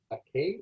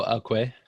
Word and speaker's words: akwe: And you mentioned the word for hello is, I may be pronouncing it wrong, ake? Is that what, how did you say it again? Oh, akwe.